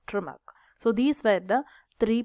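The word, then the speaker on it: Tschermak: von trimac right so it should be pronounced as trimac so these were the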